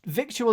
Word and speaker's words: victual: this is a vic victual is pronounced vittle oh i knew the